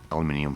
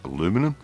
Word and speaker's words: aluminium: with a little bit of aluminium foil or as americans say aluminum don't know why i'm